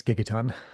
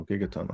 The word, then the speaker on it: Gigaton: think I think yeah gigon I don't know is it gigaton I don't know I'm looking how you pronounce it and actually that was 2020 the live tour version was 2022 so yeah it's been four years so wow yeah I think that's gigaton oh gigaton okay yeah um I don't